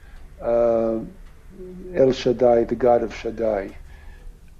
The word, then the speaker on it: Shaddai: It's pronounced, we pronounced it Shakai, it's a holy name.